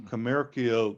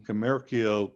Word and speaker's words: commercio: in Latin, Crescit cum commercio civitas, all those C's in a row, which in ancient Latin were all pronounced with a K sound, Crescit cum commercio civitas, that's another example of alliteration.